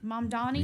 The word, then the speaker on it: Mamdani: Zoran Mamdani? Mamdani. Yeah, He Mamdani.